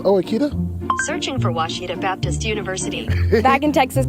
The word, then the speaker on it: Ouachita: It's Washita Baptist University. Get it right. It's Washita, people.